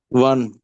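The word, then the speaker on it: wann: जी तो बताइएगा के बट को कैसे कहें प्रोनाउंस करेंगे हम जर्मन में वस वस ओके और व्हेन को वन वन ओके ओके वाय को वरुण वुम ओके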